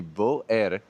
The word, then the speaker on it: Beauer: This is the Beauer, is how it's pronounced, and this is a collapsible, like cylindrical shaped camper.